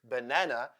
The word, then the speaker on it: banana: any vowel for instance the word banana has two schah sounds the first and the last letter A sounds like schwa this is because the second syllable Nan n a n is stressed which I'll explain later